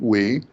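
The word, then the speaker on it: Wei: Wee, I think he pronounces it Wee, after the CHIPS Act was passed, he did announce that this was last year while Biden was still president.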